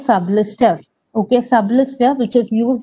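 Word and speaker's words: Sublist3r: It is pronounced as Sublister even though it is written as Sublist 3R.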